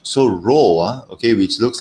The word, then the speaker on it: rho: it's not really pina it's called row okay let me remind you once again thanks adam okay this is pronounced as rho it is uh it